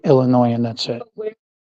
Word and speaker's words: Illinois: Now I know to just say Illinois and that's it.